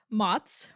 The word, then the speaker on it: Mots: My name is Mots, rhymes with pots, and he, him pronouns.